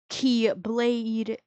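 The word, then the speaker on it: χ-blade: In the Kingdom Hearts franchise, that is pronounced key. Keyblade, which is C H I, but it's with an X.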